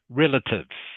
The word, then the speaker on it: relatives: This word here is pronounced relative. Can you say that please? Relative. Relative. Yeah. The A is actually pronounced a bit like a short I sound.